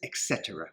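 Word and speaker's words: etc.: we have etc but we pronounce this etc we don't say the words individually you would put this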